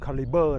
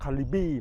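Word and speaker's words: Calibre: Navara kalibur นะ ครับ ซึ่ง ออก เสียง ให้ ถูก ก็ คือ caliber นะ ครับ ไม่ บาง คน นี้ เอา เสียง ว่า calibie ไม่ ใช่ นะ ครับ ออก เสียง ว่า nissan navara calibr และ ตัว นี้ เป็น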